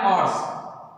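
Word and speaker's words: hours: Okay, ऑर्स, ठीक उसी तरीके से जैसे इसका प्रोनाउंसिएशन है ऐसे इसका है ऑर्स, ऑर्स, घंटे।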